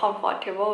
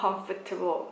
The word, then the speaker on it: comfortable: ก็ พูด ว่า มัน ไม่ ยอม เสีย ว่า Comfort Table นะ เขา ออก เสียง ว่า Comfortable ก็ คือ ตัว Force เนี่ย มัน ไม่ ได้